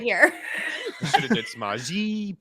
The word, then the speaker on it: Samaje: Oh yeah, so I got to pronounce it for you. Samaje Yes.